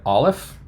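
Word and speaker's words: אלף: done so far so you got Olive which is a silent letter that is not an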